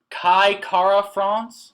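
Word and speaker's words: Kai Kara-France: And I got, oh man, Kai Kara France?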